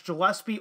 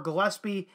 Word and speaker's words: Gillespie: I have heard that last name pronounced both ways as Gillespie or Gillespie.